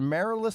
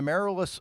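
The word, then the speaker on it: Amaryllis: uh a is it a merilus I believe is how you pronounce her name a merilus fox Kennedy uh according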